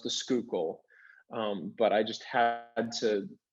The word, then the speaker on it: Schuylkill: I know it's pronounced the Schuylkill, but I just had to, for some reason, I had to do the name the way I did it.